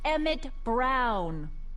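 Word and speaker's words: Emmett Brown: bill to a te that's EMT Brown rhymes with clown which I'm beginning to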